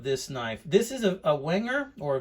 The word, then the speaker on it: Wenger: knife this is a wenger or wenger i know the w is pronounced with a v backpacker i believe this